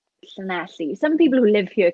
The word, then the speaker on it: Llanelli: I'm from a town called Llanelli. And no, I do not have a speech impediment. That is how you say it. It's double L in Welsh makes the sound, so it's Llanelli.